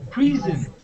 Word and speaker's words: prison: Is prison or prison? Prison. Prison. Prison. Like Z. It's a Z sound.